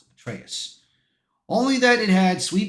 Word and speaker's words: Atreus: Atreus, that's what it was. That's why I had to pronounce it. Atreus.